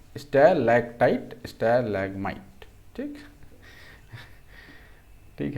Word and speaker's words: stalactite: पहले ऊपर वाले को क्या बोलते हैं, स्टेलासाइट बोलते हैं, स्टेलसाइट्स बोलते हैं। स्पेलिंग कुछ गड़बड़ लग रहा है, स्टेलेक्टाइट बोलते हैं, सॉरी, स्टेलेक्टाइट क्या है यार, ये स्टेलेक्टाइट।